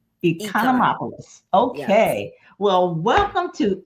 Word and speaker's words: Economopoulos: It's Economopoulos. Economopoulos.